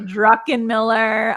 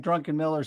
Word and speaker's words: Druckenmiller: I'm like, it's Drucken. Druckenmiller. And Phil, so good to see you. So good to see you, Phil. I think sometimes I still, even though I know that, I still say it wrong because it just comes out like Druckenmiller sometimes.